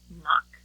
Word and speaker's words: knock: We've learned that in some words, K is a silent letter, like in knock and knee, you know, where you bend your legs, and knot.